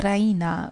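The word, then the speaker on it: Raina: she pronounces it the Rena with the stress on the E Rena she goes to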